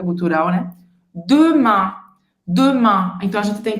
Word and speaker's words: demain: Esse an, ele é um som bem nasal que não existe no português. Porque ele parece um pouco com o nosso an, com aquele tio, né? Mas não é, tá? Não é o an de amanhã. Ele é mais nasalado. Para você fazer esse som, ele é um som que vem realmente aqui nessa parte de cima do nariz.